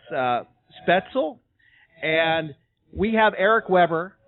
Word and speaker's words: Spoetzl: Shiner Bock and I've been pronouncing the brewery's name wrong I've been calling it spotzel but it's uh spaetzel and we have Eric Weber from the brewery